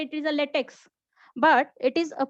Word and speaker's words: LaTeX: say it is a LaTeX, but it is pronounced as a LaTeX, as it is a Greek capital letter. T is for tough, E for epsilon, and then X for the chi.